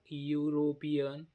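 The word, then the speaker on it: European: याचा उच्चार लिहिला का आपण इथ अ लिलावर स्पेलिंग पण लक्षात असू द्या इयर इयर म्हणजे काय ठीक आहे तीन नंबरला लिहा अ युरोपियन अ युरोपियन इथ इ आहे पण याचा उच्चार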